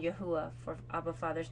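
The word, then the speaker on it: YHWH: yahuwah they'll have a capital Y HWH pronounced yahuwah and you could also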